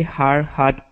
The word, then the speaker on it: hard hat: So when we say that D sound, hard hat, okay, I want you to think of that Spanish R feeling. So like when you say ere, okay? So we want to say hard hat, a gray hard hat.